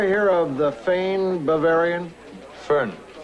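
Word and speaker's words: Föhn: blowing you ever hear of the Fane Bavarian fern pronounced fern fern Bavarian it's a hot dry wind the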